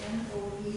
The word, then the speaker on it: Noe: The pronunciation of those names again, the N-O-E names pronounced.